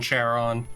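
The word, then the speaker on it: Charon: right yeah and it's Kon yeah Kon cheron cheron the way we pronounce things nowadays but uh they would have used a hard C or a k sound I when I heard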